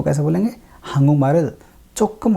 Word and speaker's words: 조금: तो कैसे बोलेंगे, 한국말을 조금 할 수 있어요, 조금, 조금 ऐसे है ये, लेकिन पढ़ने में बोलने में चक से ज़्यादा करीब प्रोनाउंसिएशन है इसका, चोकम, चोम भी बोल सकते हैं, चोम 할 수